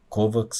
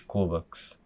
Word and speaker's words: Kovacs: O fim saindo com o K duro em vez do CH, ao estilo eslavo.